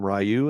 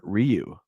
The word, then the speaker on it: Ryu: like these big battles rayu is pronounced two different ways in this film someone calls him rayu and someone calls him Ryu so there you go there's no proper way and this movie's Canon